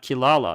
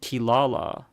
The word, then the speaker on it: Kirara: songo demon cat really it's spelled Kirara k i r a r a I believe but my understanding is I could be incorrect Tor if you want to correct me I believe the r and the l sound